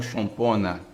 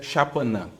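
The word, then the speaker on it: Xapanã: orixá é chapan tá Alguns vão também pronunciaram como chona mas é chapan tá chapan significa o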